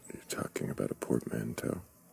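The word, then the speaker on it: portmanteau: A poor manto. Is that what you said? No. Did I say it wrong? What is it called? Portmanto.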